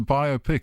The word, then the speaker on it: biopic: say biopic or biopic it's a biopic it's a biography and it's a picture biop how do you say it biop to bi two syllables okay biopic bi yeah